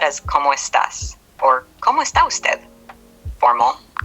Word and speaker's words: cómo estás: Como, pronounce co with a clear O sound, similar to the English word go, and mo with a rising tone on the O. Estás, pronounce S with a short A sound like in met, ta, with a rising tone on the A.